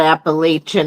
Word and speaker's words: Appalachia: It's that Appalachian area. Mm, We're saying it wrong. We gotta say it right. It's Appalachia.